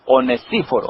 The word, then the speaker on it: Onesíforo: Es Onesíforo. Esa es la pronunciación correcta.